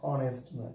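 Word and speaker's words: honest: বসবে cross last sentence my father is dash অনেস্ট viewers এখানে বর্ণ আছে অনেস্টের এইচ এইচ এর উচ্চারণ এখানে এইচ সাইলেন্ট হয়ে গেছে আন্ডারস্টুড উচ্চারণটা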